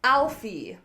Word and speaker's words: Alfie: do it do it Alfie the last syllable is a very closed e vowel I've stated this in